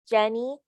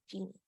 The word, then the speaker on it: genie: Yasmin, when you were talking about Aladdin, sometimes you pronounce genie as Jenny, and I would make the E longer so it's clear as genie.